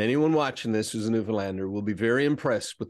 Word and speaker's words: Newfoundland: I, as a Newfoundlander, and anyone watching this who's a Newfoundlander, will be very impressed with the pronunciation of the name Newfoundland.